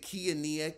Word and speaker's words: Kiania: It is, I guess you pronounce it Kiania, K-I-A-N-I-A.